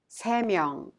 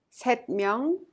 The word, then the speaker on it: 세 명: And 둘, 셋, 넷, with a counting unit 명, each final consonant drops. Thus, we pronounce 두 명, 세 명, 네 명, instead of 둘 명, 셋 명, or 넷 명.